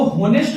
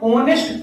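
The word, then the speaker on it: honest: अच्छा, बात ना फंसती है, अब जैसे ऑनेस्ट हो गया, ऑनेस्ट, अब ऑनेस्ट के आगे आपको पता है, इसको होनेस्ट नहीं पढ़ते हैं, ऑनेस्ट पढ़ते हैं, ऑनेस्ट।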